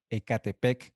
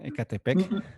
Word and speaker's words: Ecatepec: Está con nosotros el pastor Bruno Castañeda de la iglesia Supra en Ecatepec, Estado de México. Bienvenido, pastor. Espero que haya pronunciado bien Ecatepec.